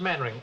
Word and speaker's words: Mainwaring: Actually, it's pronounced mannering. Why the devil? Don't just spell it mannering.